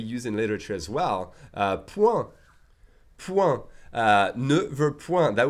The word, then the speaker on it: point: Je ne connais point cet homme. So even though the spelling is different, really the pronunciation is the same as the word fist.